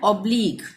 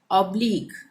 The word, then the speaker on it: oblique: अब यहाँ पे ये है ऑब्लिक, OBLIQUE, ये लास्ट में QUE आ रहा है, ऑब्लिक, ठीक है। ऑब्लिक में QUE लास्ट में आ रहा है तो हम इसका उच्चारण क करेंगे।